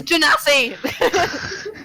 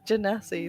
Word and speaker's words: Genasi: It is Genasi! Minotaur. Minotaur. It is fucking Genasi. That is how you pronounce it.